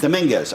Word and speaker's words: Dominguez: Dominguez.